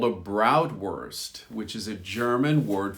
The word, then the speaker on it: Bratwurst: There's also something called a Bratwurst, which is a German word for sausage, but we use the same pronunciation, worst, in the end of that word.